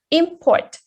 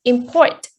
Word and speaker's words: import: words uh for example you can look at the words import if it's a noun we say import but if a verb we say import and we also give